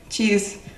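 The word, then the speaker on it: チーズ: Cheese. А на японском – cheese, cheese. Обратите внимание, вот эта вот палочка посреди слова, что в компьютере, что в сыре – это удлинение слога.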